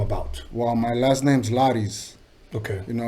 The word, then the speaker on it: Lari: Well, my last name's Laris. Okay. You know, it's spelled Laris. You remove the S, it's Lari. A lot of people like to say Larry, and no, it's not Larry, motherfuckers. It's Lari.